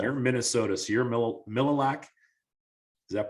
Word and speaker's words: Mille Lacs: So you're Mille Lacs. Is that pronounced right? Mille Lacs, yep.